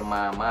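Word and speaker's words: 妈: Nah, jangan sampai nih ya, kalian mau mau manggil mama misalnya ya, tapi kalian akhirnya manggil mama. Nah, ini nanti jadinya kuda. Nah, mamanya bakal marah nih.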